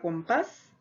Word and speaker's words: compás: Tenemos la palabra camión, la palabra compás, la palabra champú. Si nosotros observamos estas tres palabras que tenemos en pantalla, son aquellas que tienen su mayor fuerza de voz en la última sílaba.